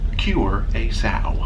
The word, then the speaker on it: Curaçao: By remembering heal a pig, cure a sow.